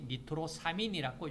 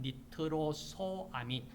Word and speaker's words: 니트로소아민: 짚고 넘어가야 되겠다 그래서 여기서 니트로소아민 여러분들이 니트로사민 그러지 말고 니트로소아민 자 이렇게 하는 것이 정확한 용어이다 자 무엇이 문제냐 큰